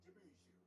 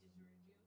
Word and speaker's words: didgeridoo: As musicians have told me, it sounds like a didgeridoo. Oh, I'm mispronouncing that. Oh yeah, didgeridoo.